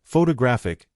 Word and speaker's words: photographic: For example, photograph noun is stressed on the first syllable, but photographic adjective is stressed on the third.